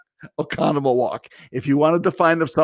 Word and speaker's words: Oconomowoc: in oconomowoc wisconsin and if you see oconomowoc you'll know that that's not the way you pronounce it o-c-o-n-o-m economy walk if you want to